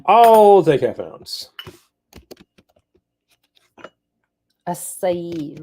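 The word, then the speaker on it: açaí: sound it's open I'll take half an ounce aai right aai mhm I learned that I had been pronouncing it wrong when I was talking to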